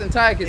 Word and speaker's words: Antiochus: It's pronounced Antiochus.